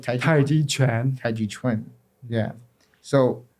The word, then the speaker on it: Tai Chi Chuan: One of the three complete systems along with Tai Chi Quan. Do I say it right? Tai Chi Chuan.